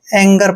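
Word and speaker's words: anger: एन जीई आर एंगर इसको एंजर नहीं पढ़ना है एंगर पढ़ना है और एंगर मींस होता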